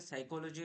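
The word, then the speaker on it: psychology: Basically আমরা ছোটবেলা থেকে পড়ে এসেছি যে কিছু ওয়ার্ড, অনেকগুলো ওয়ার্ড সাইলেন্ট রয়েছে, যেরকম দেখো এখানে সাইকোলজি রয়েছে, রাইট রয়েছে, এখানে পিটা সাইলেন্ট, এখানে ডাব্লিউটা সাইলেন্ট।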